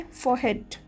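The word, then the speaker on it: forehead: इसमें जो R है वो बहुत ही ज़्यादा कम प्रोनाउंस होगा, तो इसे कहेंगे फोरहेड।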